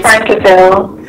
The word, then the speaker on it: Frankville: Frankville. Is the pronunciation? It's correct. Yes, it's correct.